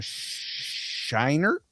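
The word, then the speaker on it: Scheinert: director for Daniel Quan and Daniel Shiner. That's how you say his name.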